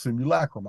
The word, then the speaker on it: simulacrum: call the smoke room which is properly pronounced simulacrum I just can't I just won't say it I've been doing it too long my way but the truth is